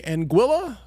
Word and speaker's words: Anguilla: Strain on my face here America andilla Mississippi Anguilla Chris that's cor yeah angua okay he he challenged me to pronounce it uh you spent some days nights in Anga before NE yeah man Anga look let me